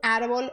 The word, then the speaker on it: árbol: Porque no português, nós às vezes transformamos a letra L em U, quando ela está no final ou antes de uma consoante.